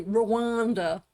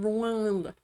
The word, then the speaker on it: Rwanda: I love how Americans say Rwanda. Rwanda. We're in Rwanda. I don't know. It's nothing wrong. It's just a very different accent to Rwanda.